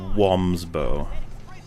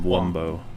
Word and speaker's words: Wumbo: shape or form uh but it's spelt with a like like bow and arrow and we've never said womb's bow it's always one of wumbo yeah i'm glad people